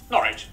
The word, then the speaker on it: Norwich: okay it's pronounced stir w at the start of the final syllable is silent Norwich Southern ER is pronounced